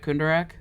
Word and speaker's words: Kundarak: about house kundarak am i saying that right kunderack yes they were saying it right that was